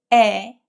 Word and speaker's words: 의: When 으이 is used as apostrophe s in English as a possessive marker, it's usually pronounced as 에.